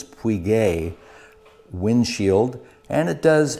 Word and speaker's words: Puig: on my windshield install this is a queeg I was told the correct Spanish pronunciation is Puig a windshield and it